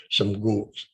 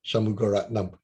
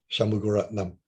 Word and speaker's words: Shanmugaratnam: So usually when the Chinese visitors came, and the Chinese interpreters always have problem pronouncing his name. Shamgu. Can you try reading this? Shanmugaratnam, Shanmugaratnam, Shanmugaratnam.